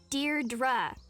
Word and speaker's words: Deirdre: Deirdre. I know it's got that tricky second syllable, but I figured it out by age 2.